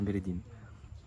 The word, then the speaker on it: Medellín: On a entendu les Colombiens dire Medellín. En tout cas, ça rectifie dans la suite du vlog. En faisant le montage, je réalise que j'alterne entre les deux prononciations.